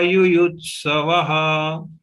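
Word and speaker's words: युयुत्सवः: We have to ensure that we clearly pronounce Yuyutsavaha, and Visarga is ending with Yuyutsavaha, ya Yuyutsavaha. Anything is acceptable to Gita Parivar.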